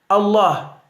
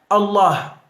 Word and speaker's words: Allah: La forma de pronunciarlo es la siguiente: Allah, con J al final, diciendo con la J andaluza, porque los andaluces, o sea, no pronuncian la J, ¿no? Entonces sería la pronunciación Allah, la comen, no pueden decir J, Allah, ¿ya? Suave, o sea, la J andaluza, suave y aspirada. O la H inglesa también, enfatizando en la pronunciación de la L, Allah.